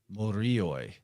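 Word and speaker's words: μυρίοι: Morioi. It's like M-U-R-I-O-I. Sounds a lot like the Moire.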